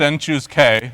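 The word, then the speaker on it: n choose k: this is called a binomial coefficient and it's pronounced and choose k and written like that and it's defined as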